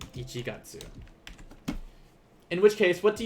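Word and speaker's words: 一月: ichi the kanji katsu remember in this case it's not getsu like in monday getsuyobi the counter for months will be gatsu so same kanji just different reading so ichigatsu ichigatsu in which case what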